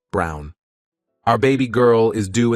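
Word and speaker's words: Braun: And I reminded her of the historical figure, Eva Brawn, pronounced Brown, wife of probably one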